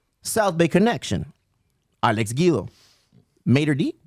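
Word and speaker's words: Mater Dei: Mater D? What, Mater Die? How do you say it? Mater Day? Mater Day. Yeah.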